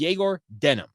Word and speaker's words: Egor Demin: fluently, has said that the way that you pronounce Egor's name is Egor Denim, like a denim jeans.